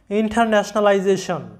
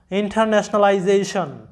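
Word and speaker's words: internationalization: এবং পরেও আছে ভাওয়েল এস এর আগে এবং পরে যদি ভাওয়েল থাকে তাহলে এস এর উচ্চারণটা হয় জ এর মত তাই আমাদের এখানে এস এই উচ্চারণটা হবে যেই তারপরে তোমরা জানো যে পূর্ববর্তী রুলসে পড়েছো টি আই ও এন সমান সন উচ্চারণ হয় সন তাহলে আমাদের এই শব্দের উচ্চারণটা আসতেছে কি ইন্টারন্যাশনালাইজেশন ইন্টারন্যাশনালাইজেশন যেটার বাংলা অর্থটা হচ্ছে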